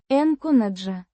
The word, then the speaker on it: начинаю: N'chɪ́naju. The stress is on the second syllable.